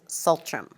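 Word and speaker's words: tsultrim: And the Sanskrit word is sila, and the Tibetan word is sultram. So in Tibetan, sultram means proper conduct or morality or discipline. Can you spell that?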